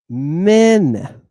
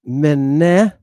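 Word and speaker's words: μέν: We're going to pronounce it men, not mene, but men.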